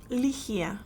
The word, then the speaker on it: Ligiah: Is that how you pronounce it? Ligiah.